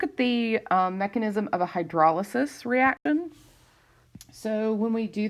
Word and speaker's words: hydrolysis: talk about hydrolysis right or hydrolysis but it's hydrolysis is how it's pronounced um the bond and the acid chloride